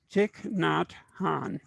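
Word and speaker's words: Thich Nhat Hanh: richard i should have asked you how to pronounce this name chick not han thank you thank you should have rehearsed that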